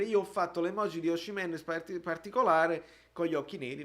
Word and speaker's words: Osimhen: Il fratello lo saprà come si pronuncia il suo stesso cognome, si dice Osimhen. Noi però possiamo, perché siamo napoletani e fieri, possiamo dire Osimhen. E con questo il dissing è concluso.